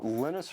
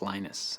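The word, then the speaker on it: Linus: speak Finnish it's lenus when I speak English it's lonus and I really don't care how people pronounce my name but Linux is always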